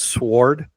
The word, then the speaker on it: sword: the word sword as sword. And it just there's a pet peeve. I've heard it. Say what? What way? Exactly. Sword. I know the W's there. It's weird. Just don't pronounce it.